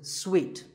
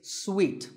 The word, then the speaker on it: suite: A related word is suite. This means a set of connected rooms in a hotel, and this is wrongly pronounced by many people as suit, but it's suite, like when you eat a piece of candy, sweet.